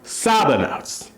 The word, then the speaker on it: sábanas: Sheets is are sabonas. Sheets. Sabonas. Just think of it like this. For some reason, you're sad and you're sobbing on your sheets. Sabonas.